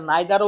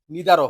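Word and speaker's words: neither: অর নাইদার ন আচ্ছা এটা নাইদারও উচ্চারণ হবে নিদারও হবে আইদারও হবে ইদার হবে কিন্তু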